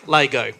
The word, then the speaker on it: Lego: Wait, how do you pronounce it? Lego.